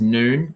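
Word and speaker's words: Nuun: um for electrolyte consumption is noon noon hydration n-u-n-u-u-n is uh is how you spell that um and to your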